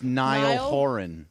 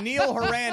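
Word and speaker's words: Niall Horan: big One Direction fan says it's Nile horen Nile horen whatever see see see Neil haran is a banker exactly it is spelled I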